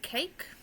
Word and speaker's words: cake: I was to say cake, then it's k, a, k, and the silent E on the end is making the A say its name.